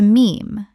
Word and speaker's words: meme: He took the Greek word mimeme, meaning something imitated, and shortened it to meme to rhyme with gene.